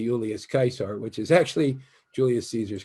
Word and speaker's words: Caesar: a kick out of when i say julius kaiser which is actually julius caesar's correct pronunciation but at any rate um so time